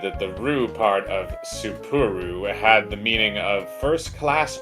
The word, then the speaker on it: Sapporo: Spur? No, 3 syllables. Sapporo.